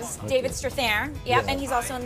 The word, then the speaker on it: Strathairn: Strathairn. David Strathairn.